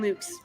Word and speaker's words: Lux: I like playing Luke's because that's how you say it in ecclesiastical Latin.